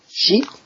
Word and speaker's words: 四: I'll draw slowly so you can get a hang of it. Right, the number 4, I'll do it again. Yep. So this is pronounced in the own reading. Shi in the kun reading.